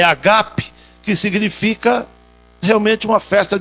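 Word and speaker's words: ἀγάπη: festas de amor a palavra grega aí é agap não é Ágape a pronúncia é agape que significa Realmente uma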